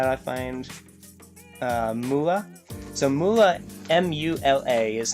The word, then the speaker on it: Mula: So Mula, M-U-L-A, is how you would spell it.